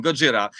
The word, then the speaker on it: Gojira: it's like you know it's like godzilla but really like a japanese pronunciation gojira uh it's a it's